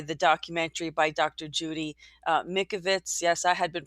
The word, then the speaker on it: Mikovits: Judy Mikovits. Yes, I had been pronouncing her name wrong.